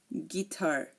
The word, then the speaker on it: guitar: colleague guard guest guide guitar here notice you are not hearing the U in any of my pronunciation again colleague guard guest